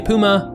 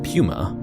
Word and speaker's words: Puma: Again, depending on where you're from, you may say Puma or Puma.